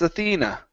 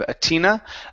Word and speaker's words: Athena: okay so but perhaps Athena but perhaps aena okay one more time give me a good th on Athena instead of atina Athena but perhaps Athena